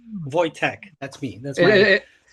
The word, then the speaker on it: Wojtek: Yeah, it's like Wojtek. It's like toy and tech like technology. So, you go like Wojtek.